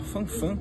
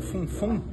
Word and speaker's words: Fun Fun: de Montevidéu, é o Bar Fanfan, ou Funfun, como se chama aqui, como é pronunciado aqui, que foi inaugurado em